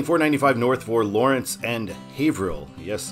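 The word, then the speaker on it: Haverhill: North for Lawrence and havil yes I did have to be told how to say that that is a super weird way to pronounce that word we're meeting i93 for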